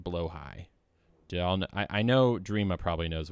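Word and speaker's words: Blåhaj: Are we familiar, chat, are we familiar with a blahaj, or as it is actually pronounced, blowhigh?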